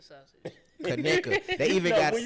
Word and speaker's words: Conecuh: Of course, I miss steak and Kaneka sausage and all that shit, but I enjoy being healthy more.